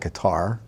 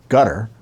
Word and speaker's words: Qatar: A M specifically Qatar I call it guitar I'm told to pronounce it gutter okay it's q-a-t-a-r but I'm going to call it guitar because that's the way I pronounce it uh and Texas A